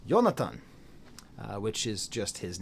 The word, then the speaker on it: Jonatan: and J's are are wise in most languages. So, Yong Leon, that's how you'd say his name. Yonathan, that's how you'd say it.